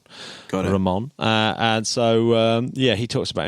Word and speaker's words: Ramon: And he talks about Ilan Ramon in very glowing terms, and I believe, and he does pronounce it Ilan Ramon.